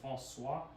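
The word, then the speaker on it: François: axi um or X it's a k like C with a city like in French if you say Francois it's spelled n-c-o-i-s but the SWA is is the city um version of the sea so it's like when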